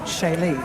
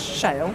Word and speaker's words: Shale: well it's actual pronunciation there's a town over in France called sh so that's actually how it should be pronounced but my mother's just pronounced when she's found it in a magazine as Shale and that's what it was